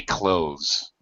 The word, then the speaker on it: clothes: Salvatore, most native speakers say close, just like close the door. How should we pronounce this word? Clothes.